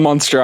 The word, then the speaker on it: Munster: podcast are from munster how do you pronounce that is it monster like a monster like no like yeah no monster like the cheese or the place in ireland okay so a hundred percent